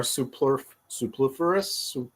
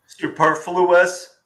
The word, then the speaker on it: superfluous: But, you know, we are seeing some more supliferous, how do you say that word? Superfluous.